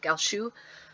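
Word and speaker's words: Galchutt: So this is one of the David Galchets, Galchu. Everybody said Galchet for so long that it's hard for me to change it to the French pronunciation, even though I spoke French for 12 years.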